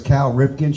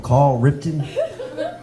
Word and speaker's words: Cal Ripken: My favorite baseball player was Cal Ripken. She would call him Call Ripton.